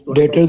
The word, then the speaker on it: debtors: B is silent here.